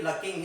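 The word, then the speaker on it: lurking: Paragraph number 2 देखिए, he should be लकिंग. इसमें जो आर आएगा वो साइलेंट आएगा.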